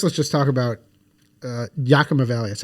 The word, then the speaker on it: Yakima: sauce yeah uh uh Yakima Valley Yakima Yakima Valley we're gonna go with your pronunciation I think so that's